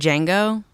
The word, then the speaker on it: Django: Did Django? Or Django? He definitely doesn't cry in Django. He doesn't Yeah. cry in Django. Yeah, See, again, I said Django. Whatever. Django. toilet. The D is silent.